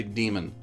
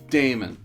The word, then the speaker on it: daemon: They Daemon. They say demon. That's Damon.